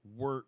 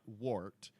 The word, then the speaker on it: wort: Then that means beer wort, spelled wort, but it is pronounced wort, not wart.